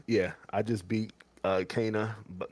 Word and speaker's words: Kena: just finished uh cana i keep calling it kenna and that is the incorrect pronunciation how do you pronounce it i thought it was kenner that's what i thought too i thought it was kenneth too but okay but people said i'm saying it wrong and it's cana so uh yeah i